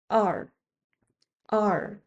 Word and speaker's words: 二: relatively easy to pronounce Everyone says 二 (èr) a little differently depending on where they're from I say it like the English letter R but with relaxed lips 二 (èr, two).